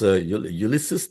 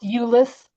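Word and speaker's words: Ulysses: Ulysus, Texas. What is the Yeah, it's pronounced Ulis.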